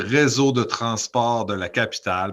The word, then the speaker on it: Réseau de Transport de la Capitale: So it's a Réseau de Transport de la Capitale, but it is the Quebec Transit Authority for the Quebec City.